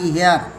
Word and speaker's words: hire: আর HIRE এটা উচ্চারণটা হেয়ার না, হায়ার, এটা হলো ভাড়া করা।